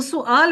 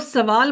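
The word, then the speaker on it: سؤال: हम लोग सवाल बोलते हैं, वो दर हकीकत अरबी जुबान का लफ्ज है, वो सुआल होता है। हम लोग सवाल बोलते हैं, लिया उर्दू से, उर्दू का लफ्ज अरबी से लिया गया है, लेकिन हमारी प्रोनाउंसिएशन गलत है। वो सुआल होता है, हम पढ़ते उसको सवाल है।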